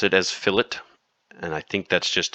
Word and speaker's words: fillet: printing because it's called I know it looks like filet but it's pronounced fillet oh I hate this grammarly thing hold on let me get out of that okay we pronounce it as fillet and I think that's